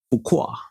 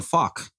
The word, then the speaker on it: Fuqua: Fukqua. Yeah, that's his name. Or what if it's Antoine Faulk?